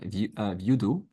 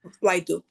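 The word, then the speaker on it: Vydu: Okay, Vyudu. Vyudu, is that the right pronunciation? Vyudu? V-Y-D-U. Vaidu. Vaidu.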